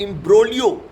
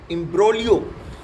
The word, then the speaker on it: imbroglio: Generally व्यस इसमें जी pronounce नहीं होता है, लेकिन कई लोग ऐसे बोल देते हैं गलत भी, लेकिन इसको बोला जाता है इम्ब्रोलियो। IMBROGLIO, इम्ब्रोलियो।